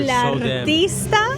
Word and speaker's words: El Artista: Yes, we're El Artista, a Spanish haunting, and can I just say, start rolling those R's, baby. Download Duolingo, start pronouncing those R's, because we need to